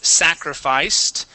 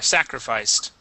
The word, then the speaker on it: sacrificed: um let's go to sacrificed make sure to pronounce that t there sacrificed sacrificed great okay uh